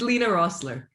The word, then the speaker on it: Lina Roessler: i know i know yeah correct me it's lena rossler rossler very good i i i i did